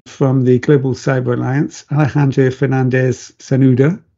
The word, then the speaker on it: Alejandro Fernández-Cernuda: I've got an excellent guest with us today from the Global Cyber Alliance, Alejandro Fernández-Cernuda, pronounced correctly.